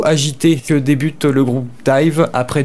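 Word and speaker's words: DIIV: Et j'ai choisi aujourd'hui de vous parler du groupe Dive, ça s'écrit D-I-I-V.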